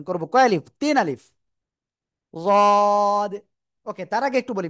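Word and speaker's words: ض: তো সেই অবস্থায় আপনাকে উচ্চারণ করতে হবে রদ, রদ। এটা উচ্চারণ করার সময় খেয়াল রাখবেন জিব্বার আগা উপরে দুই দাঁত বা গোড়ায় যেন না লাগে। অনেকে বলবেন দদ, দদ, এরকম বলা যাবে না।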